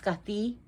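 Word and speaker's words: Skaði: norse goddess scotty scotty she's pronounced scuffy because here's how she's spelled s-k-a the curved d that's actually a letter and i have a name of the letter that's the curve d so it'll be d and the same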